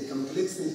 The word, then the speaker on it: комплексные: Например, мы говорим о комплексное чего-нибудь планирование и комплексные числа. Хотя корень они тоже греческие, но комплексные числа пришли к нам от французов. И ударение на последний слог.